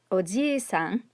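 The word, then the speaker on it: おじいさん: a long e sound now to give you an idea of how important this is in japanese that you actually pronounce that long vowel there's another word in japanese it's ojisan ojisan means uncle it can also mean middle-aged guy so notice the difference between odi-san and ojiisan means grandfather so it can be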